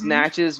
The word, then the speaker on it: Natchez: and by the way you killed it it's natchez mississippi so you did a great job on the pronunciation yeah good job teddy there you go